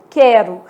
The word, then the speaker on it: quero: O U some, ó, quero. São 5 letras e 4 fonemas, né?